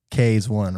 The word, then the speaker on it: Kaze.one: we'll tell this story but when my guy K's one right that's how you pronounce it K is one creative of crazy creative like love the artwork